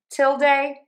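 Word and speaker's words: tilde: So stress syllable number one till. till till and then you end with day like day of the week or duh with the schwah. So we have till day till day till day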